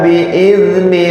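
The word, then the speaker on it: بإذن: Bapak kalau mengucapkan zal kayak gimana coba? Biizni coba. Biizni. Nah, jangan biiz. Bi'id, nggak ada nafas yang keluar. Coba. Bi'id. Ah, yuk. Coba ulang. Bi'izni rabb. Bi'izni rabbihim min kulli amr. Zal bukan dal.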